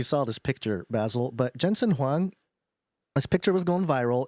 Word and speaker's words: Jensen Huang: Jensen Huang.